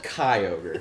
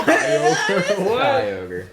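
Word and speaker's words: Kyogre: Well- In fact, I'd say rhymes with fly ogre. Fly. Fly over. No. They're not gonna get it. It's so No, random. It's, it's Shy ogre. so close. So close. Kai ogre.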